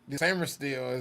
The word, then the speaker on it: Sainristil: Sainristil.